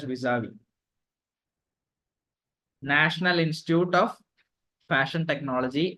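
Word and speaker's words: vis-à-vis: engaged knowledge Partners visavi I don't know VI is it visavi it's pronounced as visavi National Institute of fashion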